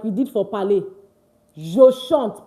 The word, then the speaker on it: je chante: Je chante. Please, it's not je chanter. I beg. It's not je chanter. It's je chante. Why? Because the E at the end is not pronounced.